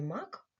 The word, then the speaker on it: мак: кожного із цих слів у слові мак звук м вимовляється твердо А у слові місяць м вимовляється м'яко Отже звук м буває